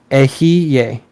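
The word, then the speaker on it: Eheieh: The mantra for the western pentagram is Ahie, or pronounced Ehiye.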